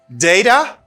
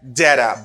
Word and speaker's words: data: in an england uh data or data both are good sound the same thing if you are in england you can hear people say data and data at the same time don't worry both pronunciation are good you can say both of them but what you should